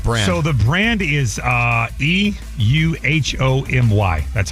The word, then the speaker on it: EUHOMY: So the brand is EUHOMY. That's how you spell it.